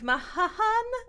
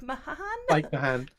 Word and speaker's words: Mahan: So we had Lower Deck showrunner Mike Mahahan. I don't know how to say his name. Mike Mahan.